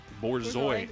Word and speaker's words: Borzoi: Borzoi is Yeah, the correct yeah.